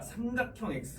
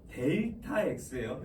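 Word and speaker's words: Δ: 그래서 자, 그 삼각형이라고 읽지 마라 얘들아. 삼각형 X 막 이렇게 읽으면 안 돼. 델타 X예요.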